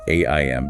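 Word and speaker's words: ऐं: First we have aim pronounced aim.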